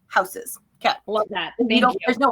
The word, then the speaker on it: Hausys: you pronounce it houses like German spelling of house plus systems houses that they don't there's